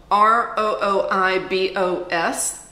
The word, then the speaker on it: rooibos: called the rooibos and it spelled Roo IBOs but pronounced rooibos I'm wearing it right